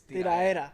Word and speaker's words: tiradera: Cause you said like the stuff that sells is usually tiradera. Tiradera, yeah. Like beats. Yeah, like My by the Spanish. way, you don't pronounce the D. It's tiraera.